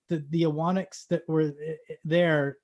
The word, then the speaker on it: Ewanuick: Anyway, so because there's a U in there, which is you don't say.